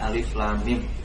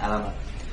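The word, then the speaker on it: الم: itu klub-klub yang terpotong-potong cara membacanya alif.lam.mim bukan alamat kemudian mengenai maknanya dalam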